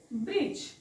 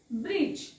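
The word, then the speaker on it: bridge: जी आलेले आहे जी लेटरच्या पूर्वी जर डी आलेला आहे असेल जी लेटरच्या पूर्वी डी आला असेल तर तो सायलेंट असतो मग इथे डी जी चा उच्चार काय करायचा ज म्हणून हा होईल ब्रिज काय होईल ब्रिज ओके नेक्स्ट तशाच पद्धतीने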